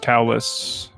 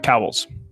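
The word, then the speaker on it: Cowells: three-quarters of it it looks like it would be pronounced callous but it's really not it's cowls towels like I can you pass me the towel can you pass me that towel towel but plural my name is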